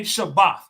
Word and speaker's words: Shabbat: The the indicate the word Sabbath, they'll actually say Shabbath. Just to indicate the word rest, they will drop the H and just say Shabbat.